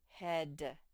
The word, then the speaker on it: head: this word say head the ea spells the s sound head head good job he hit